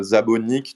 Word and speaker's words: Nick Szabo: Effectivement, Nick Szabo, il est d'origine hongroise et en hongrois comme en japonais, on va inverser l'ordre du nom et du prénom par rapport au français par exemple ou à l'anglais. Et donc son nom, ça se prononce Szabo Nick, donc c'est les mêmes initiales que Satoshi Nakamoto.